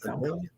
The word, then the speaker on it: Idalia: Did I pronounce it right? Idalia.